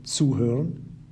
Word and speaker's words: zuhören: In this example too, we have a separable verb, zuhören, which has become zugehört because zu is a separable prefix on which the stress is laid when you pronounce it.